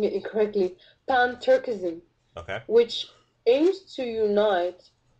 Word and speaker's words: Pan-Turkism: So there's another agenda called Pan-Turkish, I guess I'm pronouncing it incorrectly, Pan-Turkism, okay, which aims to unite basically all the